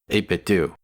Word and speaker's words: 8BitDo: That's how you pronounce it, 8BitDo. I checked.